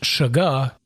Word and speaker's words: sugar: I should also note that it could be pronounced sugah, as we rarely use R's.